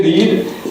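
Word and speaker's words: read: ये रीड spelling जो सा है ना, ये रेड है, रेड रीड रेड रेड form thirdly है मगर साउंड का फर्क है, पहला साउंड रीड है, दूसरा रेड है।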